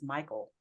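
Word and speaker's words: Mychal: I had this conversation my daughter's name is Michael oh really I love it and it's yeah it's spelled m-y-c-h-a-l she's gonna hate that I called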